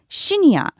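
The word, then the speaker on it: シニア: in situations like this is shinya, which is simply a Japanese pronunciation of the word senior.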